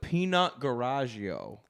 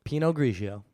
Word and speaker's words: Pinot Grigio: language so was it Pinot or is it peanut garagio Pinot Grigio peanut garagio a little wine bottles if you